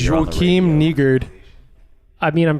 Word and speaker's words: Joakim: It's Joakim.